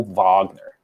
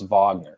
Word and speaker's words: Wagner: So they pronounce it Wagner, like Morgan Wagner. Okay. Mo Wagner. So I want to say Thomas Wagner, but it's Wagner.